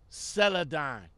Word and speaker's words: Celadon: Celadon. So y'all don't have to get at me in the comments no more about mispronouncing the name.